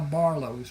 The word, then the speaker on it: Barlos: And that is how Barlos was born. The name was not a problem for the people in southern Louisiana because the French Acadian influence. It is pronounced Barlo.